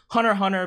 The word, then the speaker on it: Hunter x Hunter: comments I know that some people pronounce it hunter hunter because you know the X is silent or whatever but just let it happen but I feel like hunter x hunter is one of those